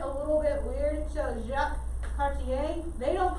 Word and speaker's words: Jacques Cartier: so does he mind if this the french pronunciation it does get a little bit weird so jacques cartier they don't call them jackets carter okay i know that's how it looks in